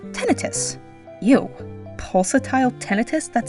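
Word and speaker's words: tinnitus: Does everyone know it's tenitus? Because I've only heard people call tonitis.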